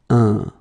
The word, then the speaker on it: un: So if you compare it to the previous one, well, in many situations nowadays, if I'm really honest, difference between the two is quite narrow and almost invisible. But then, well, phonetics like to make some differences between the two, so this one should be a bit deeper in a way, and it's un.